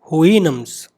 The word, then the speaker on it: Houyhnhnms: The pronunciation is Houyhnhnms.